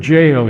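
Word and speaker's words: gaol: Now, the word jail here is spelled G A O L.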